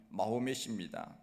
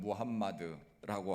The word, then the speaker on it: 무함마드: 이슬람을 창시한 사람이 마호멧입니다. 이것은 영어식 발음이고 그들이 사용하는 그 아랍어 발음은 무함마드라고 합니다.